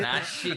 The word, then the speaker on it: nasyid: Nashid. Noise shit. NASYID. How it's spelled?